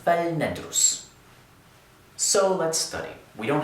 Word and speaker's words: فَلْنَدرسْ: choose to do that, then the 'laam' takes 'sukuun' instead of the 'kasra' that we had earlier. So we pronounce it فَلْنَدرسْ 'So let's study.'